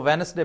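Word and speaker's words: Wednesday: होता है हां तो वो वेनसडे पढ़ा जाता है नहीं तो डी उधर क्या शकर गंधी लगा के खड़ी है उसको क्यों नहीं बीच में यू कर य इसलिए नहीं होती साइलेंट होती है हां नहीं खामोश होती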